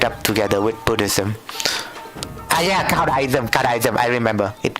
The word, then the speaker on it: Caodaism: Yeah, Caodaism. I remember it called Caodaism. Yeah, it should be called Caodaism. So it sounded pretty close to Judaism, so I just messed it all up.